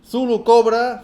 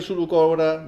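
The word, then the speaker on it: Zulu Cobra: lovely Pano sectorial yeah another thulu Cobra but this is a female thulu Cobra and this Sulu Cobra sorry I'm pronouncing in a very Spanish way female Sulu Cobra this is the hacker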